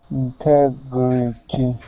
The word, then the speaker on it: integrity: Integrity. Good. Nice job. Now, with that T at the end, pronounce that like a D sound.